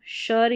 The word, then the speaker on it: sure: सबसे पहले देखिए SCURE को शर या शौर, यानी ये दो उच्चारण आपको सुनाई देंगे।